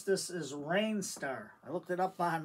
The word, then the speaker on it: Rijnstar: And the way you pronounce this is Rijnstar. I looked it up on the computer where they do the pronunciation, so it's R-I-J-N-S-T-A-R. It's pronounced Rijnstar.